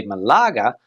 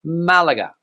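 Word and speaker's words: Málaga: with this same name there people say Malaga but here in Spain Malaga Malaga Malaga don't forget to put the stress on the a now this next city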